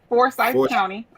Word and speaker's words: Forsyth: Is that how you pronounce it? Forsyth County.